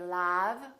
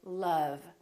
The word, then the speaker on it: love: cousin or country and once in a while this sound is also spelled with the letter o as in words like love we don't say love we say love or son my son